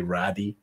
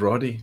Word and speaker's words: Roddy: Roddy is only ever going to be Roddy. You're never going to be Raddy or Rudy.